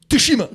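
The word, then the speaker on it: Tsushima: they're so ghost to tashima I'm playing it right now suima you don't pronounce the T toshima have you ever heard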